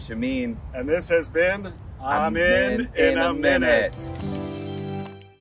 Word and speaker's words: Amin: have with these well my last name is amine and you pronounce it i'm in it's a mean well can we keep